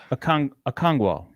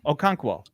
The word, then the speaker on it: Okonkwo: I'm going to say Chig Okongwu. I said it wrong. He literally tweeted this out. I retweeted the correct pronunciation, and now I forgot again.